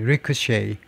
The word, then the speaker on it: ricochet: CH가요. CH가 이렇게 쉬 발음을 내면 전부 다 프랑스에서 온 단어입니다. CH가 치.